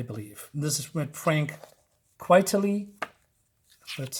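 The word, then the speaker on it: Quitely: another artist I believe this is when Frank quietly that's how you say it all right I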